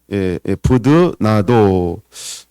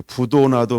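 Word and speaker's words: 브드나도: 그 사람들이 일단 17절에 스데바나라는 사람이 있고 부도나도, 이거 발음을 잘해야 되는데 그렇죠? 부드나도, 이게 부도나도 뭐 이러면 안 돼가지고 부드나도 이런 사람이 있고, 그다음에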